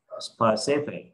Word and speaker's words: specific: Specific. Ai từng phát âm từ này sai?